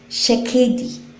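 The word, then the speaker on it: שקד: ma-pronounce ko ng tama, shekedi. Shekedi. Yan. Ang spelling po, S-H-A-K-E-I-D, pero ang pronunciation niya parang shekedi.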